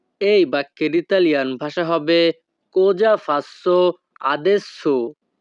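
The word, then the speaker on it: cosa: আমি এখন কি করব এই বাক্যের ইতালিয়ান ভাষা হবে কোজা ফাসো আদেসো। কোজা ফাসো আদেসো। এখানে সি ও কো এস এ এর উচ্চারণ হবে যা।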